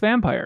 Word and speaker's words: Vampyr: back here joe says officially it's vampire really yeah it's just smelled like it looks like vampire okay in your mind you got to say it like a Y vampire you know forget about hair just think about the Y okay vampire think about